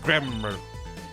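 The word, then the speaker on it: Gramarye: garai oh garai like Ry bread valent it's pronounced grammar the grand magician yes it is I the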